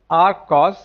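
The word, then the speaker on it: acos: They are pronounced as ark sine, r cos and r tan.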